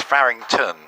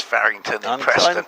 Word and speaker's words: Farington: It's You have to pronounce it right. It's Farington. It's It's not It's not on a London tube line. It's It's Fington.